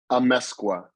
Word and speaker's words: Amezcua: Can you give me a pronunciation? Amezcua. Amezcua, apologies.